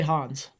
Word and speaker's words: Hans: I say Hans.